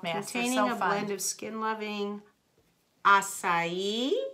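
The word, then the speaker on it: açaí: blend of skin loving asai asai she said it right instead of a Kai I used to call it a Kai yes o it smells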